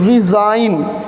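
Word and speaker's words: resign: Okay, सो यहाँ पे pronunciation की बात करें सबसे पहले तो हम लोग को यहाँ पे मिलेगा ज साउंड, ज साउंड। ये मत समझना कि ये जेड साउंड है, जेड साउंड नहीं, इट इज़ ज साउंड।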